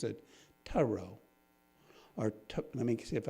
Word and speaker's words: Thoreau: works of Emerson, and as he pronounces it, Thoreau, or let me see if I can get it right. Thoreau. It's a little different than I typically do it. I usually use Thoreau. He says it's correctly Thoreau.